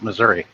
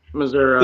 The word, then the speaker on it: Missouri: A big portion of the population pronounce it Missouri. Missouri.